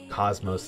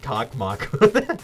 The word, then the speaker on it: Cosmos: I pronounced it Cockmock the whole time. It's Cosmos. There's no S in there.